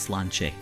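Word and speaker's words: Sláinte: yet daed AG it it's pronounced Slane turns out Kevin had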